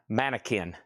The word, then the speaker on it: mannequin: Q is pronounced K. Mannequin. Not a more Q sound.